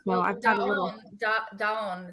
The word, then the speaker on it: Dahan: Dahan, it's pronounced in French. Dahan.